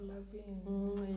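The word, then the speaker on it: Lavigne: The G is silent. Oh, Lavine.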